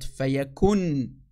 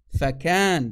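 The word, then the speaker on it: فيكون: many centuries ago so it should have been he was faken not fayakun fakkan that's the correct way to say it in the arabic not fayakun that's a disaster that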